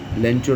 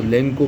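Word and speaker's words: Lencho: इसमें एक कैरेक्टर है लेंचो नाम का, कई बार उसको लेंको प्रोनाउंस किया गया है, लेंचो।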